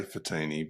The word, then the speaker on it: Fatini: So, with me today, I have Fatenni. I didn't even ask you how to pronounce your name. Did I do that right? Well, I say Fatini, but it's right.